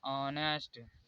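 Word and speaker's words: honest: यहाँ पर भी ओ से पहले एच आया है इसलिए एच साइलेंट होगा। इसे पढ़ा जाता है ऑनेस्ट, इसे आवर, लेकिन लिखा जाएगा हावर।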